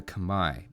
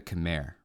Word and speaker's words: Khmer: Age of Empires 2 the Kamai or if you prefer the American pronunciation the Chim they're built around really